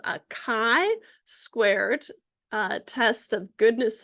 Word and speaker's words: chi: a i Kai uh if you call it Chi everyone's going to think you don't know what you're talking about and so you want to make sure that you're using the right uh you're saying it right okay so it's got this kind of fancy x capital x and so uh Kai squared goodness of fit test